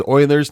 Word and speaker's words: Euler: And you pronounce it as Euler's, not Euler's.